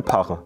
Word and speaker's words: Parre: auch nicht oder PF das F wird dann oft verschluckt wie beim Pfarrer der Pfarrer ist bei uns der parre und pfelstisch ist auch